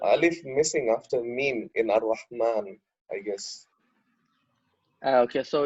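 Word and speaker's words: الرحمن: Okay, so here we don't write the alif, but we pronounce it. So there's like a Really? small alif. Yeah. Oh, at the top. Yeah, so there's like a small alif on the top, but I couldn't find it.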